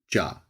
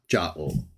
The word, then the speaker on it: Jah: Some people say Jehovah or Yahweh. We try to accommodate any pronunciation that people are more familiar with and prefer to use, but we still advocate for the best least disputed of which is ja in English. Ja, yah in Hebrew, basically the same in Greek or ya.